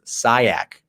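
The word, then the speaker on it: Syiek: say my last name it's s-y-i-e-k and it's sayak it's lebanese it's very uh creative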